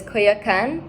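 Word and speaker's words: Coyoacán: It's like I'm going to mispronounce it now, but it's Coyoacan.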